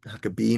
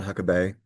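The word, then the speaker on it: Huckabay: Um, that's how you pronounce it, by the way, with B-A-Y. It's Huckabee, not Huckabee.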